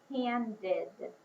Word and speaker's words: handed: What about handed? Say handed quietly to yourself. Handed has the same sound as weighted, id sound at the end.